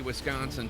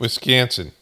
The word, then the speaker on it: Wisconsin: Republicans wrapping up the second night of their convention here in Milwaukee, Wisconsin, putting on a carefully choreographed show of party unity as the Democrats remain divided over the future of President Biden's candidacy.